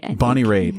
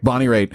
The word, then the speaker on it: Bonnie Raitt: Bonnie Raitt. I think that's right. Raitt. And if you're listening and you're a music snob and you're totally going, God, Brian, come on, man. Seriously. Bonnie Raitt.